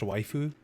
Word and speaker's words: waifu: I believe it's pronounced waifu.